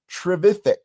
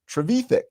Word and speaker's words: Trevithick: Until finally we come across this particular individual, Richard Trevithick, or Trevithick, depending on how you pronounce his name.